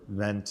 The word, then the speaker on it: vent: And in French, the word vent or vent is pronounced vent, and it actually means wind.